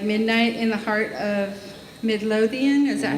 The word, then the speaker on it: Midlothian: Finally, English subtitles on original Halo Waypoint content, like Midnight in the Heart of Midlothian, is that how you say it?